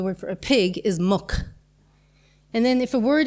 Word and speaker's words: muc: You have to change the pronunciation of the next, of the first syllable or the first consonant of the word muck.